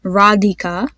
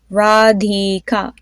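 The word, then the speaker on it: Radhika: another name is there radika the DH has that specific sound well that we're trying to pronounce so say that with me radika then another name isana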